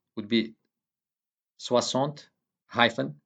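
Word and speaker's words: soixante: this is Susan says enough the X in swazant is pronounced like an s also note that number 70 in French is it is composed with the two words swazon and this 60 and 10.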